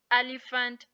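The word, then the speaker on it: elephant: एफ की आवाज दे रहा है सोफिया पैराग्राफ एलीफेंट टेलीफोन वगैरा होता है इन D world D letter S इस नोट प्रोनाउंस बिफोर ल इन डी फॉलोइंग शब्द जैसे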